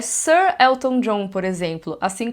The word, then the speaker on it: Ser: No original em inglês, eles costumam usar Sir com E, fica parecendo o verbo ser em português, né? Mas eles pronunciam como Sir.